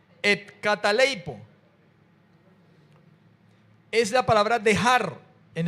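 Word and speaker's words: καταλείπω: las palabras son todas un poco difíciles de pronunciar. Dice et cataleipo.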